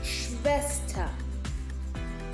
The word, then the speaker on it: Schwester: Note that SCH is pronounced sh. Schwester. ER at the end is pronounced Schwester. You don't say Schwester, you say Schwester.